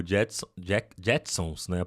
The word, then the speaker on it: Jetsons: O Json, Jack, Jetsons, né? A pronúncia correta.